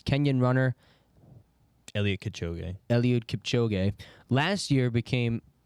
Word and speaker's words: Kipchoge: people How do you around pronounce him that? are patient. Kipchoge.